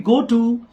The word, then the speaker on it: ghetto: GH का जो pronunciation है, दैट इज नॉट घ in English, we should pronounce it like गेटो।